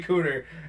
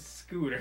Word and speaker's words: scooter: Censor me every time you say I say cooter. At your own peril. It will be many times. There's a silent S in the front. He's trying to say the word scooter.